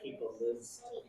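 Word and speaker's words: Liszt: would be Fran's list oh yeah list that was how yeah that's how how you would say his name all right fron list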